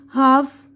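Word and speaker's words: half: ये देखिए, इसमें देखिए यहाँ पर बता रहे हैं एल साइलेंट है। हथेली, पाम, काम, सुकून, हाफ, निस्फ यानी आधा, वॉक चलना, फॉक गुरोह इंसानी, टॉक गुफ्तगू, शुड चाहिए, वुड जाएगा, कुड सकना।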